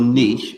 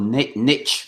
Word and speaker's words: niche: Yeah, well, we often say that, the narrower your niche, or niche, as the Americans say, the broader your appeal.